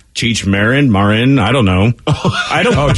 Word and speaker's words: Marin: Marin.